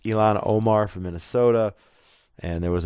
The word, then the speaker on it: Ilhan Omar: And then, of course, a few of these radicals who are now elected to Congress, one from Minnesota, it's pronounced Ilhan Omar from Minnesota, and there was another woman from Michigan who was elected and didn't wave the U.S.